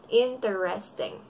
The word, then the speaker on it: interesting: Interesting. Ang tamang pagkakabigas nito ay interesting. Interesting. Lalaman mong tamang iyong pagkakapronounce kasi ang number of syllables pag binigkas mo ay tatlo lang. Interesting.